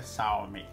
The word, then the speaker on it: Xiaomi: de uma caixa Premium da xiaomi Salve a pronúncia correta é Salve dizendo que a caixa primo da xiaomi e